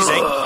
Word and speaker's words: Zangief: It's actually Zangief. I actually looked it up. It's actually Zangief. Yeah, Zangief sounds more like, or Zangief sounds like more of a Russian name than Zangief.